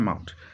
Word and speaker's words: mahout: ठीक, तो इसकी प्रोनाउंसिएशन है माउट.